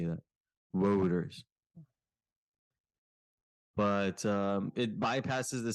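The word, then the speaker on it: Wouters: just keeps saying whoa voters voters it's such a hard name to pronounce um yeah yeah w-o-u-t-e-r-s it's like routers but with a w yeah routers better routers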